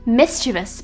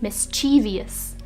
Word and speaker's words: mischievous: second word is mischievous if you've been pronouncing this word with four syllables it's time to drop it down to three it's pronounced mischievous but a lot of people might pronounce it mischievous the next word pronounced